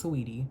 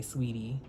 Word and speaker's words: Saweetie: Like, because I know you probably want it pronounced correctly, which is Saweetie, but a lot of people will just say Sweetie, or, the wrong way, like Saweetie and stuff like that.